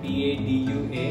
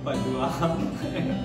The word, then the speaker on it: Padua: There's a proper noun that is spelled P-A-D-U-A and used to always pronounce this as padua. Whereas it is padua.